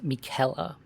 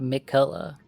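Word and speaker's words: Miquella: But you're pronouncing it wrong. It's Mikuela. Okay. like Kelly, you know, not Miklla.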